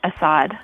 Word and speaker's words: Assad: today is Assad now is an Assad or how do you say you last that's correct you got it Assad because it says in your book that the pronunciation of the last name Assad is a